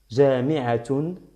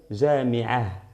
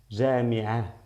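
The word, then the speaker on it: جامعة: Y en la omisión, miren, yo digo jami'atun, aquí pronunciando doble damma, o bien por el punto y el paro sería jami'ah, jami'ah. ¿Qué hago yo? Omito la ta marbota.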